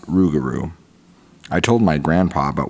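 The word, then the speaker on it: Rougarou: could find was old Legends of the rugaru which is pronounced ruguru I told my grandpa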